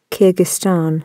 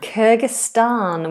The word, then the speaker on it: Kyrgyzstan: Let's have a look at the pronunciation for this one. Kyrgyzstan. Kyrgyzstan.